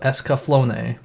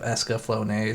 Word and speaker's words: Escaflowne: covering the vision of escaflowne which I spent the past decade just calling it the vision of escaflowne I didn't know you pronounce the e or figured you didn't